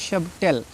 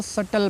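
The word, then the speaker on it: subtle: हैं इसको पढ़ते हैं सब टेल ठीक है इसको भी सबटल नहीं पढ़ना है इसको सटल पढ़ना है क्यों क्योंकि टी से पहले बी आया है तो साइलेंट हो जाएगा ये आपको याद रखना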